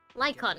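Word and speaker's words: Lycaon: Lyon, right?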